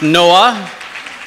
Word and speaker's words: NOAA: work for NOAA National Oceanic and Atmospheric Administration pronounced NOAA it's not to no avail it's just a